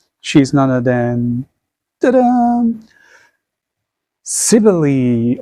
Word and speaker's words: Cybele: Cybele, or some may pronounce as Cybele.